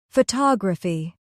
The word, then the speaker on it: photography: Photography. Stress on the second syllable.